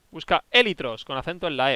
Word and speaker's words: élitros: Llevan acento en la E. Élitros. Busca élitros con acento en la E.